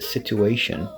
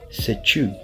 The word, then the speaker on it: situation: So sometimes I hear people saying situation. It's not situation, it's situ, right? Situation. And again, we have that Tion ending, which will be pronounced as shun. So again, we have situation, situation.